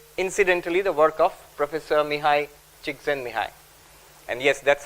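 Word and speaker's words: Csikszentmihalyi: Shahar and also incidentally the work of Professor mihai Chen Mii and yes that's how you pronounce it I have referred to Professor seligman's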